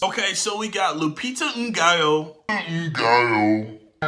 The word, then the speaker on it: Nyong'o: A couple weeks ago, when I reacted to the Us trailer, I mispronounced one of the actresses' names. Okay, so we got Lupita Nyong'o.